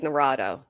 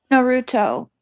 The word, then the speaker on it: Naruto: They said he would run like Narado or I don't know how to say the character's name. Naruto.